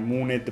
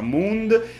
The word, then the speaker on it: Mooned: fa, sono un ignorante, lo chiamai Mooned per tutto il tempo, ma ovviamente si pronuncia Mooned, di Lorenzo Palloni, questo